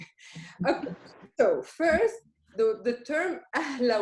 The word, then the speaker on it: أهلا: How do you pronounce it? Ahla.